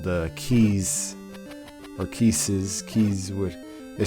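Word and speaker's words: Keese: which are called the keys or kisses keys with they're spelled like Reese's but with a K instead of an R but um this is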